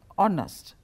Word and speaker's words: honest: ඔව් අපි ලිව්වට ඔනස්ට් කියලා අපි ප්‍රොනවුන්ස් කරන්නේ Honest, right? I pronounce it honest.